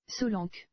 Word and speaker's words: Solanke: And then the other guy I wanted to pronounce was this dude. Solanke.